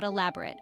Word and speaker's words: elaborate: is IAB or rate with the stress on the second syllable use elaborate when you